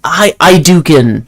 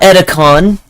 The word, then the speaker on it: Idukan: That's Idukan. It's not Edicon. It's Idukan.